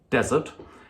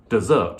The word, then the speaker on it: desert: main course and spoken the only difference between those two is that one of them has the stress on the first syllable desert and the other has the stress on the second syllable desert so - tongue instead